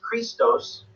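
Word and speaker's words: Χριστός: look at Christ theme which in Greek it's pronounced Christos the first two letters in the main Christos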